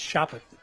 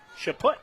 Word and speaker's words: Chaput: I just always think of shot put, so it's Choppett. Choppett. Chaput, yes, that's what I thought. Like shot put.